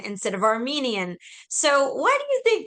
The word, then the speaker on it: Armenian: Like Iran, like Armanian instead of Armenian.